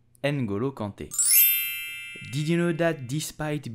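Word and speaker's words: N'Golo Kanté: the French national team so how do you pronounce his name you will simply say Angulo Conte and Gulu Conte and Guru Conte did you know that despite being very rich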